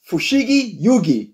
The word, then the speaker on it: Fushigi Yugi: This is called Fushigi Yugi.